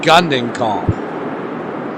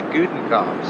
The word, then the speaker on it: Gudenkoff: I always called him Gundenkoff. See, I think it's Gudenkoff.